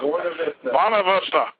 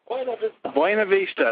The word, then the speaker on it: Buena Vista: Buena Vista. Buena Vista. There you go. First time it's ever been pronounced correctly on this radio show.